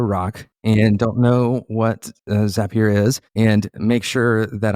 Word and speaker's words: Zapier: Yeah, Zapier is the correct way to pronounce it. We always say Zapier makes you happier.